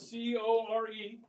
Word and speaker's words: Corps: wrong it's c-o-r-p-s okay the p and the S are science okay now core is